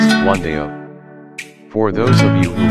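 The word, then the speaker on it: 冠道: The name in Chinese is, which is pronounced Guandao.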